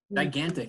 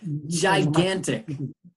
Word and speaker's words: gigantic: Okay, gigantic. Gigantic. Mm-hmm. Es advanced. Es como J, ¿verdad? Ya, como, mm-hmm. como la, Y. Gigantic. Yeah, yeah, correct. La primera G es como J.